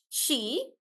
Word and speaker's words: she: So it's not C, it's sh she.